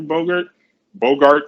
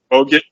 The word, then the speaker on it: Bogut: It's like Draymond Green and Bogart or Andrew, Andrew Bogart, whatever you want to pronounce his name. Bogut, yeah.